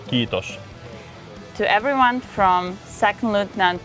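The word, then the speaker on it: kiitos: We say kitos to everyone from second lutan to general.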